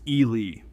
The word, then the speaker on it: Ili: It is called the Ili Pika, pronounced Ili, not to be confused with a rabbit, even though it looks like a teddy bear crossed with a bunny.